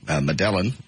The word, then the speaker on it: Medellin: Medellin. I think he's Spanish. Okay. How would that change the pronunciation? Change the two Y's to the L's to a Y. Try that. Medellin? You don't say the L's.